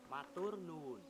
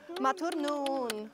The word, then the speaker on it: Matur nuwun: How do you say thank you in East Java? Matur nuwun. Nun. Nuwun. Nuwun. Matur nuwun.